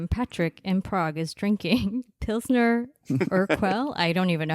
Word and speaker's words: Pilsner Urquell: So today, Patrick in Prague is drinking Pilsner Urquell.